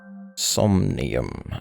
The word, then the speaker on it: Somnium: Somnium. Okay, that's how you pronounce it.